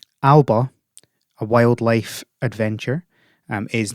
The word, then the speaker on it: Alba: um first of all alaba nope i keep doing it every single time i pronounce it the scottish way alba a wildlife adventure um